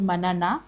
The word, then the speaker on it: Manana: an amazing amazing guest today um he's called Manana but I think he's going to talk more about himself have I pronounced it well manana is okay manana okay because I I need to know.